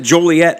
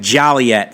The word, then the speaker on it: Joliet: So you heard Scott pronounces it Joliet like I do, but I'm telling you, I've heard some real deep Southsiders pronouncing it Joliet.